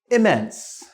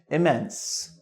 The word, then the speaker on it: immense: So first one, immense, immense. You could say immense as well. This is another one that has two possible pronunciations. So immense or immense.